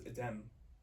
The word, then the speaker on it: Adem: It's like It looks like it's Adam, but it's Adem.